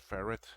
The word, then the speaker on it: ferrite: The only thing that's missing are the actually ferrite beads. Um, so I don't know how you pronounce that word, ferrite, or is it ferret? It's Ferrit. So okay, so So I do have his two boards.